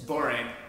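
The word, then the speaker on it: borane: How do you say the BH3 again? Boring? It's boring, but I most people just say BH3 okay.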